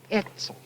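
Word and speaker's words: Oetzel: sort of short E, Etzel. This were a short E, as if the O wasn't there, see, just like the E-T-Z-E-L. It means like silence. The O silent. Yes, the O is silent.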